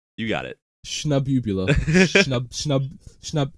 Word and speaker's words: Shnabubula: Shnabubula. Shnab. It's like, okay, the ending part is like nebula, right? It's like eula.